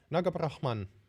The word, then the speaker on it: Nagabrahman: I'm actually, Nagabrahman. No, sorry, it's an M at the end.